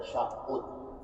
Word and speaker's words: تشہد: کو کہتے ہیں تشہد، عام طور پر تشہد کہتے ہیں، نہیں وہ تلفظ غلط ہے، اس کا لفظ ہے تشہد، جیسے تکلف میں وہی لفظ ہے، تا کاف لام فا، تو اس کو تکلف کہتے ہیں، اسی کے وزن پہ تشہد بھی ہے۔ اور تشہد کے معنی کیا ہے؟